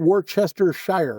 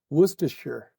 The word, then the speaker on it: Worcestershire: So, it's Woostershire sauce. And I don't think it's shire. It's not Worcestershire. That's It's Woostershire.